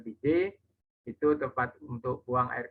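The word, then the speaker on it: bidet: yurina ya dari PD tulisannya bided Tapi bacanya BJ itu tepat untuk buang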